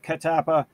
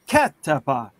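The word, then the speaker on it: Kattappa: guess we're also we're supposed to say katapa katapa without emphasizing any of the syllables yeah because our inclination is a cat tapa or catapa or something like that but but yeah no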